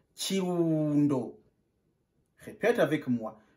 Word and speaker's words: Kirundo: On prononce Kirundo. Répète avec moi. Kirundo.